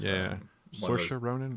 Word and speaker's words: Saoirse Ronan: I always get this person's name wrong, like Saoirse Ronan. You know what I'm talking about? Yeah. It's Saoirse Ronan.